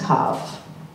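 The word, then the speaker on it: קו: It's pronounced kav.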